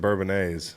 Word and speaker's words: Bourbonnais: Are you doing a non-silent S thing today? What's that? Just the Illinois and Bourbonnais.